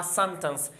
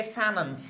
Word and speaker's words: sentence: लेकिन अमेरिकन में एक और तलफ्फुज भी है, उसको हम कहते हैं सैनन्स। सैनन्स, ये जो टी है ये साइलेंट होता है, वो है सैनन्स।